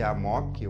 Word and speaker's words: amok: é sempre humilde amok aliás nem sempre é pronuncia-se amok o amok outra coisa e ah